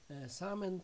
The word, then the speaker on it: salmon: Przedostatnie słówko, salmon, czyli łosoś. Tutaj bardziej będzie skojarzenie może nie fonetyczne, ale takie graficzne, bo w wymowie rzeczy nie wymawia się tego L, ale możemy to chyba